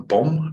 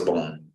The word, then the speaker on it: bom: Is it a bom? Is it an M? Or did that autocorrect you? I thought it was bom. Bom. I'm saying it wrong the whole time.